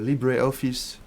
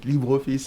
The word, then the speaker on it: LibreOffice: need office suites uh libreoffice if you spread it if you pronounce it english way but libreoffice in french you get plenty of